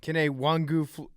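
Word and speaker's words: Kene Nwangwu: Kenny Wangu.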